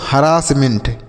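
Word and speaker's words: harassment: और double S को हम क्या पढ़ेंगे बच्चों? डबल एस को पढ़ेंगे श। तो लिखा गया हरास। इसे हम पढ़ेंगे हरास। एच A double R एच ए आर A double S. एच ए आर ई double S है। इसे हम पढ़ेंगे हरास। एम इ एन टी को हम मेंट पढ़ेंगे। तो लिखा गया बच्चों? हरासमेंट।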